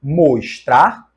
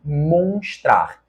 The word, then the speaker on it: mostrar: nós temos o verbo mostrar e a possibilidade indicada na questão monstrar esta forma monstrar com a nasalidade da vogal não existe na língua portuguesa está errada a forma verbal mostrar